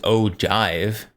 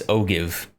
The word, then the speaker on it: ogive: Oh, I've pronounced Ojive. Oj. What language did that come from? It's ogive, like olive but with a G.